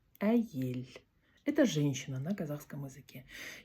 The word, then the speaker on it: Әйел: Э, а - это а, а вот эта буква звучит как э, но не я, а э. А эель. Аель.